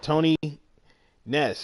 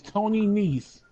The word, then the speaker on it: Nese: Every time you say his name wrong, I'm gonna correct you. It's Tony Nese.